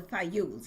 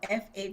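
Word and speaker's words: Fajul: They called the Fles. It's called F A J U L. J in Spanish is pronounced like Y.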